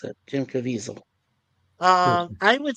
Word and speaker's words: Jim Caviezel: That is how he pronounces it, Jim Caviezel.